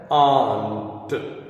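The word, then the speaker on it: aren't: आंट। आंट, आर को silent कर देते हैं इस वजह से आंट पढ़ते हैं, आंट।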